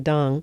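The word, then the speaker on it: Deng: Tia Scott and you team Dung. Yeah. Uh and I know it's spelled D E N G, but it's pronounced Dunk.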